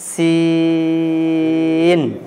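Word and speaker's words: سين: জিভের আগা নিচের দাঁতের আগায় লাগবে, উচ্চারণটাকে লম্বা করতে হবে। হ্যাঁ যেমন আমাদেরকে লক্ষ্য করে উচ্চারণ করবেন এবং আওয়াজটাকে পাতলা রাখতে হবে। যেমন উচ্চারণ করেন সিন, সিন, সিন, সিন, সিন, সিন, সিন, সিন, সিন, সিন, সিন।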